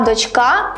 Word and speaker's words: дочка: їх зазвичай найчастіше плутають донька має наголос на першому складі а дочка на другому Вони мають протилежне наголошення